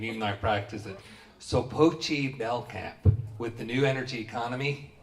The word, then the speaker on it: Sopoci-Belknap: So my name is Sopoci-Belknap.